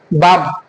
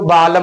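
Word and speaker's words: balm: तो हम के एम से पहले एल साइलेंट होता है कि नहीं होता?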